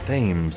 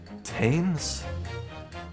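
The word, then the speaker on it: Thames: tomorrow morning oh yeah it's not pronounced themes it's uh tames Tams it was some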